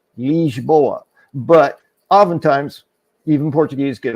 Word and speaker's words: Lisboa: But in honesty, the way the language is pronounced, that I is always E.